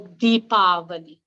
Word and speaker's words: Deepavali: Festival the celebration is known by a few different names Diwali Diwali or deepavali and it all depends on which part of India you come from uh that that would determine the pronunciation of the celebration also uh what else